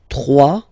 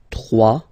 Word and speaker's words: trois: Trois. Final s not pronounced. Trois.